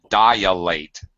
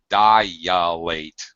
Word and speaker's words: dilate: Rebecca, you should not say dilate. Dilate. What should you say? Dilate. All right, dilate. Dilate. Dilate. But no ya in there. Not dilate, just dilate. Dilate. This is super common. I myself made this mistake for years and years. Okay, it's a long I, so you're using a dilate. It's really easy to put that I sound, that Y sound, and turn it into another vowel.